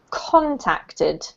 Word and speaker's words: contacted: This is contacted. Contacted, first syllabus. Yeah, that's right. So to contact and contacted, or my contacts. It's all the same. Emphasis on the first syllable, okay?